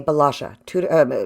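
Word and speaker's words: Bălașa: aquarium and his name is his last name is spelled b-a-l -a-s-a balaja Sabine balaja he's a he was a family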